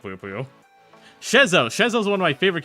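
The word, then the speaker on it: Schezo: S-C-H-E-Z-O. Shezo. Oh, it's one of those SCH motherfuckers. I really like Shezo.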